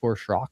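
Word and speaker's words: Schrock: I'm just shrock there. Shrock is spelled below here. S C H R O C K. It's a little little different.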